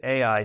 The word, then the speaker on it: Ai: Then Joshua sent men into Ai. Now, this is not artificial intelligence. This is a city in biblical times that was actually pronounced I, like the letter I.